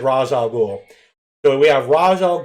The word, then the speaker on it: Ra's al Ghul: so moving on we have weather however everyone pronounce it I've always said Ra's al Ghul so we have Ra's al Ghul Batman's mentor